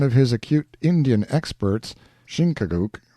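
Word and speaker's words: Chingachgook: his acute Indian experts shinuk pronounced Chicago I think has lost the trail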